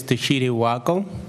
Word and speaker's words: Teshite Wako: record and maybe give us a little closer pronunciation to your name as well. Thank you, Chairman. My name is Teshire Wako, spelled as T-E-S-H-I-T-E, last name W-A-K-O.